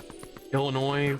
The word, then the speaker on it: Illinois: Like when you look at the when you look at the state of Illinois and you look at that name with the two L's and ending with a silent S, you're like, "Oh yeah, no, that used to be French."